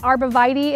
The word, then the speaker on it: Arborvitae: Arborvitae is the way we pronounce the name in my area. Arborvitae is another way I've heard it, which is probably proper, but I'm going with what I know here.